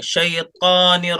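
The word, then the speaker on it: الشيطان: नहीं बोलेंगे, ता बोलेंगे, शैतानिर रजीम, होठ गोल नहीं होना चाहिए ता शैतानिर बोलने में।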